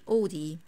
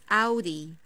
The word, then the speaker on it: Audi: discord what about this i don't say od this is not od this is audi audi audi for example my friend's dream core is an audi and this one is